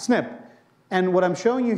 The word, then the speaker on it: SNP: that's the term that's used snp as is pronounced snip and what i'm showing you here are four